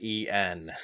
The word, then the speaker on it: en: you should have said n oh no and uh another one of those TW letter Scrabble words you see a bunch it n pronounced as the letter N it's literally the width